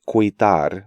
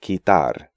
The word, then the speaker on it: quitar: These letter combinations do not constitute diphthongs because U is silent in these sequences. So not quitar, but quitar, not querido, but querido, not seguimos, but seguimos, and not juguete, but juguete.